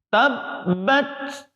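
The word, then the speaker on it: تبّت: Oleh sebab itu, tabbat ada desisnya. Tabbat. Nah, itu harus ada.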